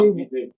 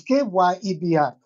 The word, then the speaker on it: Kyebi: No, KB people. KB or Chebi. Eh? CH. No, it's Kyebi.